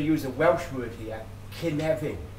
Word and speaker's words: cynefin: I'm going to use a Welsh word here, cynefin. It's spelled C-Y-N-E-F-I-N.